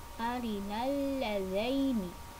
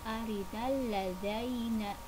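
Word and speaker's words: أرنا اللذين: Nah, perhatikan kata-katanya, ada kata arinal ladzaini, bukan arinal ladzaina.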